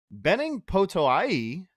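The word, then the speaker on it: Benning Potoa'e: to the roster, but Benning Potoai, I think is how you correctly pronounce it. That's what I had heard on the broadcast.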